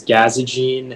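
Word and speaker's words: gazogene: the information yeah uh the only pronunciation is gaza gene it's a noun and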